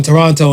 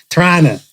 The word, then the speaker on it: Toronto: right right the way i set up in toronto and stuff and everything or people always yell at me people from here when i say toronto torana yeah apparently you guys don't pronounce it that's